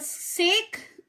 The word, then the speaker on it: sake: Sa is pronounced like fa in father and K rhymes with V.